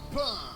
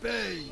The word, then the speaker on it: Pain: Pain. Ça se prononce paye.